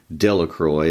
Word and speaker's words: Delacroix: Bobby and Harry Jones and Dickie Delacroix, the villagers pronounced his name, Delacroix, eventually made a great pile of stones in